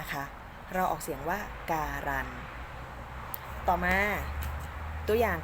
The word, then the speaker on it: การันต์: เป็น พยัญชนะ ตัว เดียว อย่าง เช่น คำ ว่า การันต์ ค่ะ ถ้า เรา ไม่ ได้ ออก เสียง ต่อ เต่า กะ น นะ คะ เรา ออก เสียง ว่า การันต์ และ ต่อ มา ตัว อย่าง ของ คำ ที่